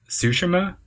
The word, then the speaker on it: Tsushima: And I think it's pronounced Tsushima.